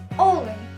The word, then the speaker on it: олень: приклад в нас буде олень наголос ставиться на літеру о ми не ми не кажемо з вами олень ні А ну ось наприклад